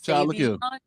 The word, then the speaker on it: Sauvignon: I was in the studio with my producer, and I realized I've been pronouncing Cabernet Sauvignon wrong my entire life. It's Sauvignon. It's Sauvignon.